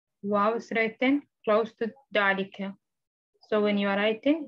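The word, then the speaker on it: ذلك: Note, number one, dalika is pronounced dalika, but it is written without the alif.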